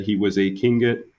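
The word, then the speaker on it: Tlingit: said he was a king get indian pronouncing king it proudly with a clicking of his tongue as if saying clink hit he was built like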